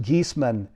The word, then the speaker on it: Giesemann: the program let me formally introduce her suzanne geesman and it's pronounced geeseman is a highly sought after and respected medium